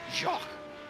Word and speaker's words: Jacques: Jacques. That's how it's pronounced.